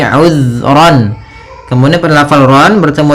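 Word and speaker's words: عذرا: Kemudian ayat selanjutnya, uzran aw nuzra. Di sini uzran, hati-hati dalam pelafalan zal, usahakan di sini jangan sampai memantul, jangan uzra itu ya, tapi uzran.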